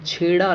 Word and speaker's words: छेड़े: तो उसके लिए दोस्तों राजस्थान में छेड़ा लोकगीत गाया जाता है। वैसे इसका जो सही प्रोनाउंसिएशन है वो छेड़े गीत में आता है।